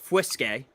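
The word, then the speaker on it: fuisce: all right cool uh so it's spelled f-u-i-s-c-e pronounced whiskey okay the the language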